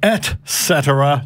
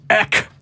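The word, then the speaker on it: et cetera: I got him again because he said pronounced pronunciation I am NOT on the title of the messages it is at cetera not Eck yeah show me this again I was gonna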